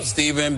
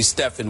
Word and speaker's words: Stephen: I learned something every I'm Stephen but when when when she she calls me Stefan when she's mad when she pronounces it Stefan I have messed up